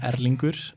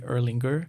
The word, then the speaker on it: Erlingur: my name if you've in Iceland you would pronounce my name at Linkous but here we usually just say Erlanger really I think so